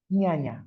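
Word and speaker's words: jñāna: yoga que se llama ñaña j n a n pronuncia ñañañaña y esto quiere decir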